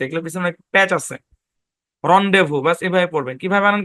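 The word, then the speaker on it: rendezvous: শব্দ যেমন সেই লেসিফিয়ার রন্ডেভু যেমন এটা যখন বাড়ির কাজ দিবেন দেখেন খেয়াল করেন এটা যখন বাড়ির কাজ দিবেন হ্যাঁ আছে কিন্তু রেন্ডেভু রেন্ডেভু না রন্ডেভু ভাই এগুলো কিন্তু কোন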